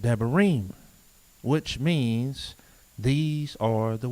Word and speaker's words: Debarim: the book called deuteronomy and hebrew pronunciation it is called deburim which means these are